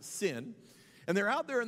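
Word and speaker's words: Zin: the wilderness of sin it's spelled z-i-n but it's pronounced sin and they're out there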